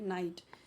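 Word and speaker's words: knight: नाइट। अब नाइट क्या है? जो योद्धा होते हैं। ठीक है? वो होते हैं नाइट। यहां पे केस साइलेंट है।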